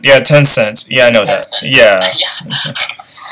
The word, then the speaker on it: Tencent: Pronounce it. Yeah, it's like Tencent. Yeah, Tencent.